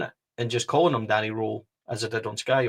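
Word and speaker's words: Röhl: Now, I have been reliably informed and saw a clip that he does pronounce his name Danny Rohl, like the German kind of style. So not roll.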